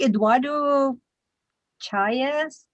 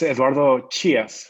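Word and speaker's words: Eduardo Chias: actually um i think eduardo chairs something like that eduardo please correct me i probably just butchered your name welcome thank you it's edwardo chias i'm from mexico city awesome how did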